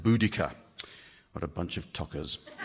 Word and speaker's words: Boudica: She's been known as Boadicea, but a group of Cambridge linguists recently insisted, from a study of Proto-Celtic languages, that Boadicea must be pronounced Boudica.